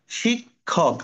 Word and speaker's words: শিক্ষক: জিনিস হলো খিওটা খিয়োটা যেমন এইটা দেখো শিক্ষক আগে ক পরে খানে উচ্চারণটা শিক্ষক আবার খিয় যখন প্রথমে